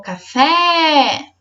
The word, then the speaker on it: café: Fazendo o teste chamando a palavra. O café. A sílaba tônica é o fé.